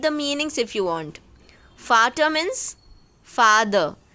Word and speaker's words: Vater: Vater means father. The sound of V should be F for fan.